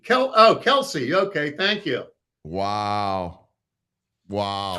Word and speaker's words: Kelce: Kelky? How do you pronounce that? Jason Kelky. Kelsey.